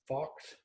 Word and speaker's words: Focht: Here with Kara, and your last name is Focht. Focht. Yeah, you pronounce it Foch. Foch. Yeah, that spelling doesn't help anyone out.